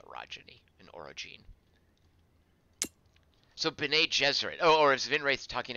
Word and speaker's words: Gesserit: Vinwraith, soft G, and Dune, too.